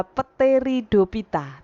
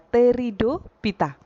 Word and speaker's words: pteridophyta: juga tulisannya kemudian pteridophyta tulisannya adalah peteri dopita tetapi kita membacanya adalah pteridophyta spermatophyta Nah bryophyta itu